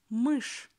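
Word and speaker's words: мышь: For example, word mysh, mysh, mysh. You see, in the end of the word, we have soft sign. But as before it, we've got always hard consonant sh, we pronounce sh hard and soft sign makes nothing.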